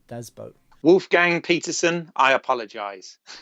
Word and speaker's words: Das Boot: I read recently that you do not call it Daz boot you actually say dobat oh well there you go even though it's spell boot but uh the actual proper pronunciation is boat so do boat Wolf Gang Peterson I